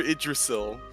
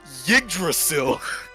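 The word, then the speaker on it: Yggdrasil: Despite Despite the fact that it was named after Idrasil. Oh, I pronounced it. I'm disappointed by the fact that you pronounced it Yiddrasil.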